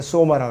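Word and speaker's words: σῶμα: 그리고 이것이 헬라어로는 이제 소마라고 그러고 히브리어 발음은 이제 파시아르라고 그래요.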